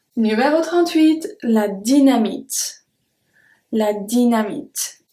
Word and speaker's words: dynamite: La dynamite. And as you can see, Y or I, we pronounce it the same way.